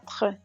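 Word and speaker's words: quatre: 4 4 It means four in French. Don't pronounce the E at the end.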